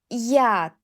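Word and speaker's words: яд: For example yolka yolka ye plus o yolka for tree yesli ye plus e yesli if yad yad ye plus a yuk yuk ye plus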